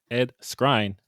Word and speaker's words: Skrein: Anyway, it stars Ryan Reynolds, Miranda Baccarin, Ed Skrein.